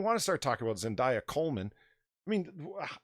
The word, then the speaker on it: Zendaya: Yes, you got to say her name like it's a perfume. Zendaya.